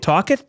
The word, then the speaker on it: Tocchet: You've never heard Rick the Rocket Tocchet? Well, it rhymes, but I've never heard him called that.